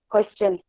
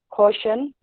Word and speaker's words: question: Yes, I have a question. Okay, question. Some people pronounce it as caution, caution, or cushion, but it's question, question.